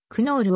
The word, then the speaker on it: クノール: に準じている英語には kn という発音は存在せず kn のつづりは単に n と読む子が多いのでクノールを n と読む人もいるが cm などでは系の後に母音を挿入して kn と